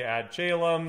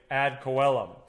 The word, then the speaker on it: ad coelum: the ad coelom doctrine there's different ways to pronounce this some people say add chelum some people say add celem some people say add column i'm going to say add coellum so the ad column